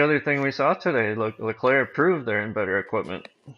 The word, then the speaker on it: Leclerc: And speaking of Leclerc, excuse me, it's a hard C at the end. I always forget. Um, You don't do French very well. Charles Leclerc.